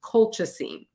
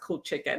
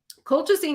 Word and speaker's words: colchicine: in nursing school is colchicine okay colchicine which if you sounded out phonetically it looks like cool chicken okay but it's not pronounced cool chicken it it's colchicy but